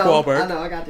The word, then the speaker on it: Wahlberg: off what Mark Mark you're saying it wrong it's Mark wallberg I think Mark wallberg